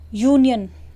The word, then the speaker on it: union: बट जब हम इसको प्रोनाउंस कर रहे हैं तो हम क्या बोल रहे हैं, यूनियन, यह हमारा स्वर नहीं है हिंदी में, यह हमारा हिंदी में व्यंजन है, यानी कि कॉन्सोनेंट है।